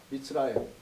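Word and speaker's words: מִצְרַיִם: 예를 들어서 애굽이라고 읽지 않고 이집트로 발음하지 않고 히브리어는 미츠라임이라고 한다면서요. 미츠라임.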